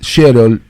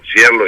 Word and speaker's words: Schierloh: Bueno, es Sherol, no sé si pronuncié bien tu apellido, siempre me costó mucho. Es un drama, pero bueno, es corregime. más fácil Sherlo y más fácil. Sherlo, Sherlo.